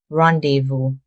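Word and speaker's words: rendezvous: It's another French word and both the zed and the s are silent. It's pronounced rendevu.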